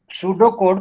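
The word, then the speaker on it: pseudocode: अब सूडो कोड pronounce as ए सूडो कोड, ठीक है, is another way of representing an algorithm.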